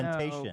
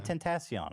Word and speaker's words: Tentacion: No, Temptation. but Temptation that's Island. better. That's closer. That's closer. Okay, yeah. Tentacion.